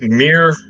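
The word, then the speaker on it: Mere: It's It's Mir. M E R E. M E R is how I've learned that it is pronounced.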